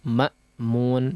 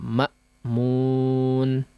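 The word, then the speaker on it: مأمون: kita singgung pengucapan Hamzah yang ditakdirkan silahkan dijelaskan ya Makmun Makmun ya hamzahnya betul-betul dijelaskan ditekan dengan kuat ya Makmun ya jadi tidak hanya mak mak mak aja ya tapi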